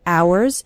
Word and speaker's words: hours: trying trying to spend hours and hours remember the H in the word hours is silent so don't pronounce it